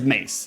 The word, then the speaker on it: mace: AJ, it's pronounced like the weapon. Okay. So, it is mace. It's not mas.